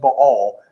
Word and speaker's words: Baal: contemporary Old Testament Scholars they will say it should be pronounced ball not B well I grew up hearing at Bale so it's gonna be